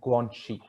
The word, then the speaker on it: Guangxi: Guanxi, pronounced Guangxi.